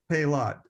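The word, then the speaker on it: Paillot: illustrator Jim pelot well that's that's how you pronounce his name pay a lot okay anyway okay I wasn't sure if it was palette or pale or so yeah thank you I think it's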